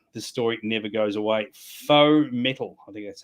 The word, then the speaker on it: faux: Faux metal. I think that's how it's pronounced.